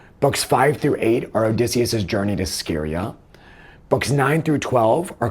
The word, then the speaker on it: Scheria: Books 5-8 are Odysseus’ journey to Scheria (Ske’-ri-a).